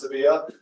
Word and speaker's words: Sevilla: Spain to go to Sevilla. So classic one. I do not speak very good Spanish, but it looks like Seville, but it is pronounced Sevilla.